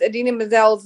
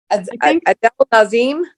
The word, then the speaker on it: Idina Menzel: The moment that John Travolta like mispronounces Idina Menzel's name and calls her Nadim, what does he call her? Azim, Adele Nazim. He calls her Adele Nazim or something like that.